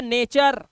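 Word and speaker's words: nature: है ध्यान से सुनो यू के बाद आर आया तो क्या पढ़ना है अर तो यह हो गया नेचर क्या हो गया नेचर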